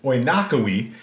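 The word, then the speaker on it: oinochoe: an oynakowi right so it's kind of a weird way to pronounce this but the way you pronounce this is oynakowi uh and the the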